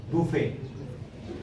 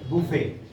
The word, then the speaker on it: buffet: genre jonathan's time b-u-f-f-e-t buffet buffet buffet you could b will